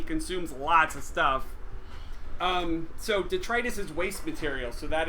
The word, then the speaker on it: detritus: So let's look up that word detritus. I was actually saying it wrong when I first played this game. The dog is making noise. Detritus is waste material.